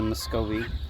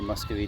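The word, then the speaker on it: Muscovy: Ms this is m she's a muscovi or musy duck depends on how you say it but yeah she's tamed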